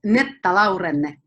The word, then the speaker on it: Netta Laurenne: Well, in Finnish, it's Netta Laurenne. Netta Laurenne. That sounds more Italian. I'm screwing that up still. Yeah, but it's kind of okay to say Netta Laurenne.